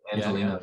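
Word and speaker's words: Angeleno: And it was 2015, was it Angelino? Is that the correct pronunciation? That's it, Angelino.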